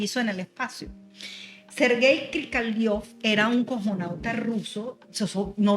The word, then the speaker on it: Krikalev: ¿Cómo es que se pronuncia el apellido? Mira, este señor se llama Sergei Krikalev.